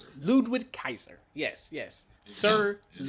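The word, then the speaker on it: Ludwig Kaiser: How you pronounce his name again? Ludwick Kaiser. Ludwick Kaiser.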